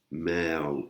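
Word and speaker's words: แมว: Meo, qui veut dire chat, avec une voyelle longue, avec la voyelle E, voyelle longue.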